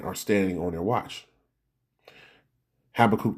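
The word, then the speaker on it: Habakkuk: So Habacook, the prophet here, Habach, if you want to say it that way as well, is pronounced as well.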